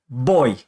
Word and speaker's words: voy: So if you're saying I go, which is spelled V-O-Y, you're going to say boy.